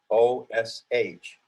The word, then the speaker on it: Xenosh: The word Zenosh, Xenosh. And of course, it comes from the Greek xeno, meaning foreign or alien. It's an X, but it's pronounced like a Z.